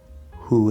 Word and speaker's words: who: go under who is who is who is and notice who is spelled with a w sound at the start but there's actually no w it's h who is how